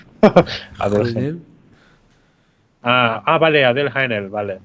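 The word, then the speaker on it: Adèle Haenel: Se llama Adele Genel o algo así, se pronunciará. Adele Haenel.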